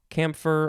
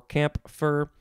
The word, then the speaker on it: camphor: camphine now we have camphor uh you can sort of pronounce the p if you want camp camphor or camp for uh c-a-m-p-h-o-r noun from